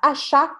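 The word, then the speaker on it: acheter: a pronúncia para vocês achar é assim ó a sílaba forte tá no final e o e se não tem som de nada então vocês vão simplesmente fala achar achar tá bom pé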